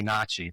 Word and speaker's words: Nachi: And actually, pronunciation, Natchez is an anglicization of what they say. They say Nachi. They call themselves the Nachi.